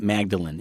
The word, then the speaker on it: Magdalena: his wife Mary Magdalena now I say Magdalena now you say Magdalene well because her name in certain languages and certain cultures you would spell it with an A on the end like Spanish people would say Magdalena and then people from other places would call it Magdalene it really doesn't matter